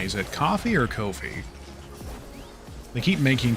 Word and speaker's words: Ko-fi: How is that website pronounced anyway? It's K-O-F-I. Is it coffee or Ko-fi?